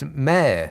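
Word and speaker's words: Mair: isn't named mayor thomas it's mayor surely like my with an r at the end you're welcome says vanessa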